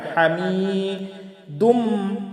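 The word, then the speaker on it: حميد: হামিদুম এই যে মিমের উপরে তাসদিদ আছে, এই জন্য এখানে গুন্না হবে। হামিদুম মাজিদ জিমিয়াজের জি, এখানেও 1 আলিফ টান। হামিদুম মাজিদ।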